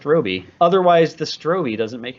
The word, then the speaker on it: Robe: says robe yeah it says ro but it's pronounced Robi otherwise the stroii doesn't make any sense I'll